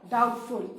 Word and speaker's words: doubtful: So, unsure, doubtful. And remember, the spelling of doubt, B is there, but when you pronounce the word, we don't pronounce the alphabet B. B is silent.